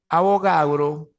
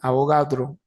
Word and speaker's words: Avogadro: entonces la hipótesis es abogado Perdón avogadro Así que pronuncia avogadro sí volúmenes iguales de